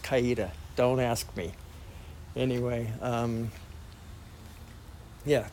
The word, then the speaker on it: Coweta: the county courthouse for Coweta County, or Cowety, which is pronounced Coweta.